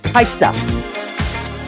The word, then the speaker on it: Kaja: It's pronounced Kaisa. Okay, 6 years. Like Kesha, Kaisa. 8 years.